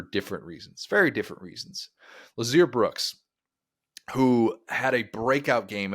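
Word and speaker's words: Lotzeir Brooks: Lazier Brooks. The T is silent. Don't look at the T. I gotta look at the etymology of that. Lazier Brooks.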